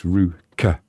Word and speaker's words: Ruch: Yeah, it's Ru, and then the last bit is like what you pronounce lot. So it's Ruch, as in Veruca.